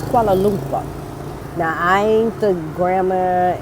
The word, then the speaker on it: Kuala Lumpur: I'm just sitting here thinking, why do people say Kuala Lumpur? It's Kuala Lumpur. Now, I ain't the grammar and pronunciation police.